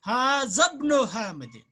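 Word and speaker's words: هذا ابن حامد: तो हादा इब्नो हामिदिन, लेकिन हाँ इब्न और इस्म का अलिफ जो है ये हमजतुल वसल है, इसको हम बीच में नहीं पढ़ते, लिहाजा मिलाकर पढ़ते हैं। हाज़ब्नु हामिदिन, हाज़ब्नु क्या पढ़ते हैं?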